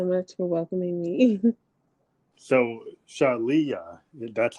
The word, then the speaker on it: Shaleyah: that shot but it's Shalia and what I like to tell people is that it rhymes with Aaliyah and that kind of helps to see with the word association but yes I'm Shalia Leah okay so um